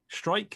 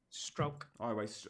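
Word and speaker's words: Struijk: Oh, well, I mean, he's Dutch, and there's that sound that I cannot make in Dutch. The U and the I is kind of like it's halfway between like ow and o.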